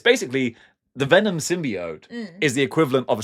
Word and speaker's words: symbiote: The symbiot that Peter Parker rejected, Eddie Brock embraced." So is is it the symbiote? It it it's pronounced symbiot.